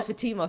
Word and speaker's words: Fatima: or is it f oh Fatima for sure because it's a Muslim name oh yeah yeah yeah